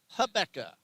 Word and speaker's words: Rebecca: And I'm told that in her home country it's pronounced Habbeca.